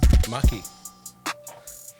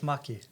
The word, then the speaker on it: Maki: Maki. Nate, We spoke about this before, but which one do you prefer? we can go with Maki. Maki? Yeah, rhymes with lucky.